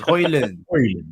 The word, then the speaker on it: Højlund: There was a clip of it going viral the other day of him pronouncing it himself, and I think he said it was Højlund. Oh, so it's Højlund.